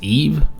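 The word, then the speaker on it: Yves: by the way apparently the king's name is pronounced Eve rather than Eves as I've been pronouncing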